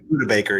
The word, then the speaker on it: Budda Baker: What about how's it pronounced? Budda Baker, right? Yeah, Budda Baker, yeah.